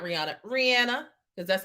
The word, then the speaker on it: Rihanna: And baby, now that Rihanna has won the Super Bowl, yes, Rihanna won the Super Bowl, okay?